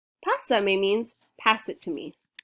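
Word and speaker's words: pásame: it says look passami i know it looks like hussein ignore the urge to say it's basami pasa me means pass it to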